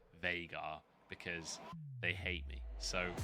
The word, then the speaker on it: Veigar: The developers pronounce it Veigar because they hate me.